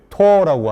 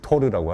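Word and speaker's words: Tor: 그 토어라고 하는 브라우저 이제 본토 발음은 토어고 우리는 이제 토르라고 하는데 토르 브라우저를 통해서 들어갈 수 있는 일종의 굉장히 어두운 공간이죠.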